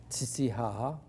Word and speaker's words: Titicaca: quand on va voir les Huros sur le lac Titicaca, j'ai bien écrit entre parenthèses, d'ailleurs, que notre guide nous avait dit qu'il fallait prononcer Titihaha.